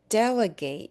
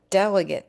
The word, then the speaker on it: delegate: So if we say I delegate you to be our delegate to the convention, the way we've changed pronunciation is a pattern that occurs in many many words with this suffix in